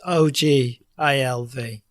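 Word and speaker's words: Ogilvy: Is it all I can never pronounce the guy's name. What's his name? Ian Ogvy. Ogulvie. It's OG ivy.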